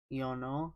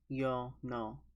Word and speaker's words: Yeono: And I want to clarify it's Yeono, not Yo-no, because it's spelled differently, but the Korean characters emphasize that it's Yeono, not Yeono.